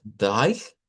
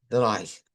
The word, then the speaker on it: drei: se escucha como AI, pero en el idioma alemán esta AI viene de un diptongo EI escrito, o sea, se escribe así, el 3, pero se pronuncia con I, ¿ya? Deich, Deich.